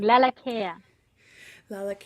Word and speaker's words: Lalakea: live radio it's all good thanks for asking laa care laa very nice okay so Aran is here with